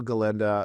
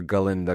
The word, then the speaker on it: Galinda: it is it's my galenda crown it's I like that you still say the a in the first syllable your galinda crown yeah very cute